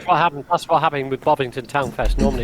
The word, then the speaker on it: Bovington: Bovington.